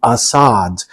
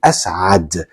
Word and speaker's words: Asad: You can pronounce it A if you want, like my last name, Assad. Technically, my name is Asad. It has that letter right there.